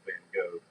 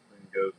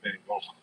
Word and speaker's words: Van Gogh: Not Van Gogh. Van Gogh's the American. The actual Dutch pronunciation is Van Gogh. Like, you got like you're hawking a loogie.